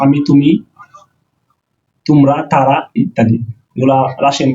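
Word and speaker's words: ты: তুমি, তুমি রাশিয়ান সেটার উচ্চারণ হলো তি।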